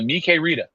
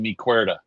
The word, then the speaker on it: Mi Querida: And it was on the Mi Querida. And I didn't know how to say it. I actually called it the Mi Cuerda.